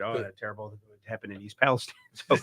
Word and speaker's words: East Palestine: name of that City I said oh that's East Palestine but if you hear them they say East Palestine I mean the so